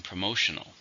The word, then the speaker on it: promotional: this is an adjective how many syllables are in promotional for stress in a second promotional it's a new